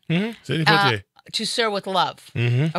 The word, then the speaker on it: Sidney Poitier: Sidney Poitier.